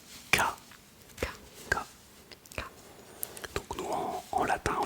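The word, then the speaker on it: か: Alors, ils utilisent une syllabe à la fin de chaque question qui est la syllabe K K K K.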